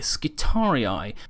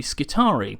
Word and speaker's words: Skitarii: are slightly different however the reason I've pronounced it skari is because there is a actual Roman legionary unit called the triari which I've learned about a long time ago and because the spelling is incredibly similar I've used that as